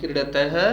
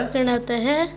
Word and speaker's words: क्रीडति: न से क्यों बोल रहे हैं आप, गलत बोल रहे हैं ना, उच्चारण सही करिए। डे है, न नहीं है, न नहीं है, ये पंचम अक्षर नहीं है, वर्णमाला में आप जानते हैं ये डे डमरू वाला है। तो कैसे बोलेंगे, शुद्ध उच्चारण पर ध्यान दीजिए।